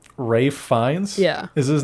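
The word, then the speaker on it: Ralph Fiennes: the fact that he Ralph as we look at it it's not pronounced it's pronounced Rafe r a f e which is Rafe fines yeah is his name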